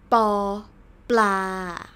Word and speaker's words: ปอ ปลา: your lips together b ปอ ปลา alright so this one is บอ ใบไม้ ปอ ปลา see I press my lips much harder when I want to pronounce the word ปอ ปลา นะคะ and ปอ ปลา